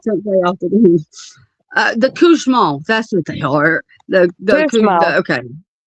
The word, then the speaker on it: Cauchemar: yes, it's called the Couchemont, spelled Cauchemar.